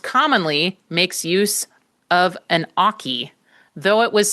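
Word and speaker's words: oche: And so listeners know the spelling of oki is O-C-H-E. It looks like oach or oak.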